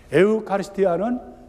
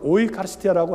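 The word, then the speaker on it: eucharistia: 에우카리스티아는 독일어 발음하는 분들은 오이카리스티아라고 하지만 히라보로 에우카리스티아라는 말은 감사라는 뜻입니다.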